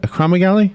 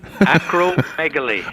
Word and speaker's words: acromegaly: criminal how is it a chroma galley a chromagly no acromegaly acromegaly acromegaly so where can they